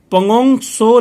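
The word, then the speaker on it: Pangong Tso: ये नाम है पंगोंग सो लेक, टी साइलेंट होता है यहाँ पे, पंगोंग सो लेक।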